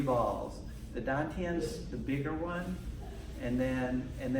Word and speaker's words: Dantian: the gravitational center of your body, is the Dantian is called, like they spell it, or the transliteration T-A-N, T-I-E-N.